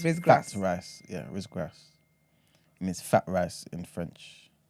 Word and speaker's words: riz gras: They got something called, I believe it's pronounced Rizgras. So RIZ and then GRAS. 2 separate words.